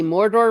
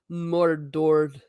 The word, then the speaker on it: Mordor: keep it alive wait they didn't even say Mordor right no they went mordored more of the door laugh out now next